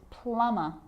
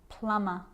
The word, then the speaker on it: plumber: with the letter B it's always silent when it follows the letter M climb Krum lamb dum-dum and plumber so practice them with